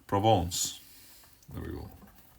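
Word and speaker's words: Provence: here and write down Province or provance as I'm sure it should be pronounced well something like that probably not making a great job it provon there we go right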